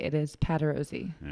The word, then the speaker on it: Patarozzi: and i still think i'm saying your last name wrong every time i say it nope you're right it is pat rosie all right yes be embarrassing if i said